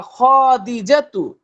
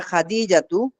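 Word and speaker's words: خديجة: ইয়া খাদিজাতু, হে ইয়া খাদিজা। এই যদি বলেন ইয়া খাদিজাতু, মনে হয় যে খয়ের পরে একটা আলিফ আছে, কিন্তু আলিফ কি আছে? জি আলিফ না। নেই। বলতে না। হবে ইয়া খাদিজাতু ও আচ্ছা।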